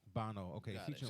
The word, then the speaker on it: Bono: Bono.